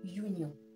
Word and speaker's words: union: Nous avons par exemple ici a union. Notre mot union commence avec la voyelle U, mais lorsqu'on prononce, il nous donne le son Y. Le son Y dans yes.